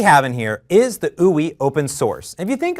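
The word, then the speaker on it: Ooui: And it's called ooey is how you pronounce that.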